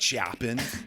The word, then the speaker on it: Chopin: This is how it should be pronounced. Chopin. It's so good. Okay. Gonna chop you all the way to the grave.